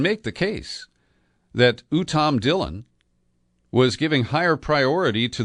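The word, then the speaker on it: Dhillon: But the lawyer in question did offer advice to Trump, and his name is Uttam Dillon. Last name is spelled D-H-I-L-L-O-N.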